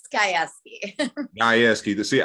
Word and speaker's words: Gajewski: how do you say your last name it's skyeski i ask you to see i was going